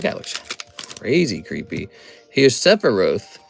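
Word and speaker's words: Sephiroth: Here's Sepharoth. It's Sepharoth.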